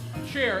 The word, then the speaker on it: Cher: 8 sharing is importance Cher as in share Force share eights Etc